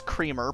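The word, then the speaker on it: CR33-R: It name is creamer, but it's spelled CR33 um Mr. um hyphen R.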